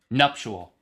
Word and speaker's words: nuptial: Nuptial. No, it's nuptial. It's two syllables.